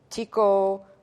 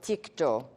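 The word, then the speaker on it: τίκτω: This comes from, I'll write it in English for you, or phonetically for you, tiko or tikto, which would not look like that in the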